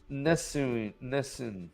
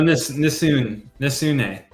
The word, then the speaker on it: Nesune: Pronounce this. Mylan. Nessun. Oh, Nesune.